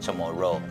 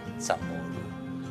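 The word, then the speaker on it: CHamoru: ro to say to go into or to pronounce the word samoro go, so it's like chamorro.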